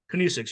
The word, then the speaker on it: kinesics: uh chapter 10 uh how do you say kinesics kinesics yeah right and you you mentioned the hierarchy